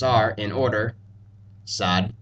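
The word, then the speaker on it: ص: letters we've learned before essentially these two letters are pronounced as S's and D's just as seen and dull were except these letters sound a bit dark darker or heavier the best way I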